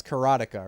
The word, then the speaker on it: Karateka: of karateka karateka sorry I think I said it wrong the first time it's carotica right the making of carotica that's another example and